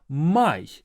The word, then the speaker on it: Май: But this I here is pronounced as A. Май. In English, it's more like me sound, but in Russian it's Mai.